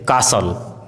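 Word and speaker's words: castle: यदि किसी वर्ड में एसटी साथ में हो तो टी का उच्चारण साइलेंट होता है जैसे कासल हसल बसल listen glisten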